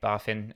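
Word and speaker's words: BaFin: germany's financial regulator um b.a finn um you know barfin um warned did you know how to say it better than i did are you chris yeah it's baffin i've worked like i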